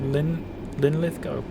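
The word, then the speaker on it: Linlithgow: lovely little commu route perfect there except ly linth go where the W is silent so it's just like go not gal that makes sense oh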